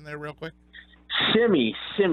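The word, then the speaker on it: Semi: Shimmy, just like the dance, Shimmy.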